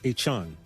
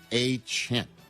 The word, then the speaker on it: Etienne: Travis Etienne. No, Etienne.